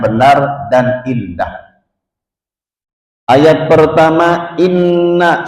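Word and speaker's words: إنّا: Ayat pertama, inna, setiap nun tasydid dalam Al-Quran Bapak Ibu bacanya dengungkan, tahan dua harokat.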